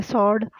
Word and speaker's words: sword: आगे सॉर्ड, SWORD, W इसमें silent है।